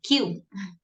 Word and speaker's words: queue: Esta palabra solo se pronuncia la primera letra. Q.